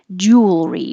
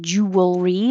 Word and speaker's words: jewelry: high position mew mutation jewelry we don't say jewelry as three syllables we shorten it drop the middle one and say jewelry so you're going from the l to the r jewelry jewelry and i